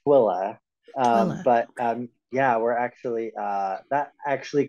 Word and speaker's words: Tooele: It's pronounced Twilla.